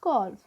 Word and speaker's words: calf: Okay, here L is silent friends. Okay, for cow they have given cough, so the baby of cow is calf.